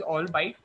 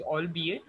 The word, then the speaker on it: albeit: So the word albeit was pronounced as all bite. So the correct pronunciation is albeit.